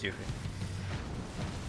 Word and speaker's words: Yuffie: Yes, but it's Yuffie. I can say that with definitive because they say her name in Kingdom Hearts and they say Yuffie. And Kingdom Hearts is correctly translated from its original part, so you know that it's that.